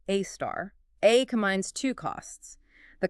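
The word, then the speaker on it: A*: Yeah, pronounced AAR.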